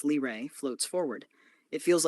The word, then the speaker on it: Lyra: The name Lyra, pronounced Lray, floats forward.